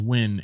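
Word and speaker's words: Nguyen: go to Vegas their last name is win and it's spelled n g u ye n you go to Vegas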